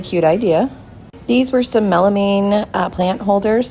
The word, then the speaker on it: melamine: These were some melamine plant holders. Someone told me it was melamine, not melamine, I guess.